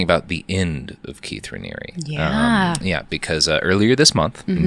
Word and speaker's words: Raniere: Yeah, I think it's Raniere, yeah. It is. Yeah, and I know I knew it when we did it last time. But today we're talking about the end of Keith Raniere.